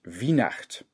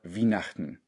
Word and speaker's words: Wienachten: Weihnachten auf Plattdeutsch ist Wiehnacht oder Wienachten. Das T hinten kann man ein bisschen verschlucken. Wienachten oder Wienachten oder einfach nur Wienacht.